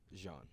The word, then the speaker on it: Jean: Jean.